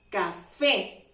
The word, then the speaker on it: café: Esta palabra también tiene acento en la última letra, café. Por eso hacemos más fuerza en la E.